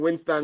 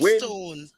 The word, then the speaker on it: Winstone: just type in Winston when you get over there. All right. It's not Thank you. Winston. You can pronounce the name good. Win Winstone.